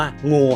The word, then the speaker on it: NGU: Give Up เนี่ย ครับ ถ้า เอา ตัว อักษร แรก มา N G U Never Give Up เนี่ย พอ มัน อ่าน ngu มัน จะ อ่าน ว่า งู ครับ ซึ่ง ผม ชอบ